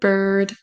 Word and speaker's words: bird: Maintenant vous saurez le mot bird first girl c'est vraiment son e un petit peu qui traîne.